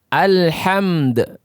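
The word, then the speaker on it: الحمد: Al-bab, al-fil, alhamd. Lihat, alhamd. Nah, ini dal tidak boleh dihilangkan suaranya. Sering kita mendengarkan alhamd, alhamd, alhamd.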